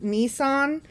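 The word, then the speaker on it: Nisan: the first month is nissan n-i-s-a-n i'm assuming that's how it's pronounced like the car um it's the month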